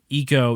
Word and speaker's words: Ico: game is you play as a character named eco we always said aiko because that's a very americanized way of saying